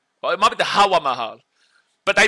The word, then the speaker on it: Hawa Mahal: Well, it might be the Hawa Mahal. But they pronounce it the Hava Mahal over here.